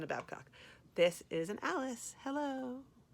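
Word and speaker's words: Allis: And then this, I would call this an Alice. And Alice is spelled A-L-I-S. But I think of Alice as like Alice and Kelly are all friends. So Alice has little hands, like holding hands.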